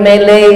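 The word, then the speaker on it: Malay: Wali murid yang anaknya sudah belajar di Hang Nadim Mele School. Kang Nadim Mol. Kami ini pakai ejaan Inggris. Melayu tu orang Inggris menyebutnya mele.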